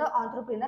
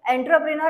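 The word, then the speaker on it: entrepreneur: आहे एनटी आर प आता याला प्रोनान्स कस करायच आहे एंटरपनर अस प्रोन्स नाही करायच त्याला प्रोनान्स करायच आहे ऑ्टपनर नेक्स्ट बघूया फ्रेड फ्रेजेस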